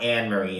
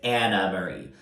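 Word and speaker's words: Annemarie: I think that, you know, Crystal, Anna Marie, I just fucking learned that's not Anne Marie, it's Anna Marie. You know, it's spelled like Anne Marie.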